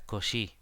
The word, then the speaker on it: Cauchy: mí me parece que la pronunciación correcta es Cauchy. Habría que preguntarle a alguien que sepa francés muy bien y que esté seguro de eso, pero yo diría que es Cauchy.